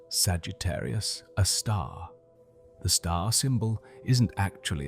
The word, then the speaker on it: Sagittarius A*: We call it Sugi, a star for short, pronounced Sagittarius, a star.